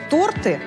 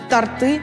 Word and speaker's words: торты: Если вы очень любите торты, следите за тем, чтобы ударение в этом слове было правильным. Торты – это ошибка.